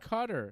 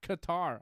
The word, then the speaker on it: Qatar: It's pronounced Cutter. It's not Qatar.